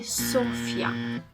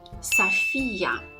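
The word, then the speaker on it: София: have noticed is that they put the stress again on the first syllable so they say Sofia Sofia when the stress needs to go on the second syllable so on the E on the vowel e saphia safia okay and therefore because the O isn't stress it needs to be pronounced okay I hope you enjoyed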